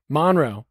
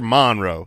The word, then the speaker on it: Monroe: Well, that's how you say it if you're from there. Okay, that's more of a like. How do you say it if you're not from there? Monroe. Monroe, but you're Monroe. That's like we've got Prescott.